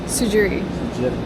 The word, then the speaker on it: Tsujiri: the freshest types of CA HOA matcha tees suii sui it's a the tea is silent um but uh yeah the matcha and